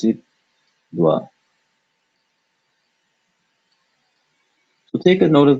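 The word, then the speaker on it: द्व: So this is neither English va or va or wa, but it is its own individual sound. And in this case, we're going to pronounce it dwa.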